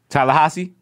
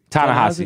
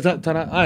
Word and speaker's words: Ta-Nehisi: Yeah, how do you say it? I don't know how to say his name. Tallahassee? Ta-Nehisi, yeah. Oh, it's like Ta-Nehisi.